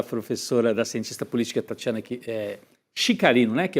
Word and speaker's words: Chicarino: da fala da professora, da cientista política Tatiana Chicarino, né, que é a pronúncia correta, né?